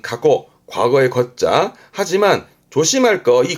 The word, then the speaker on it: 過去: 발음은 가고 과거의 겉자 하지만 조심할 거이 거자는 코는 이거면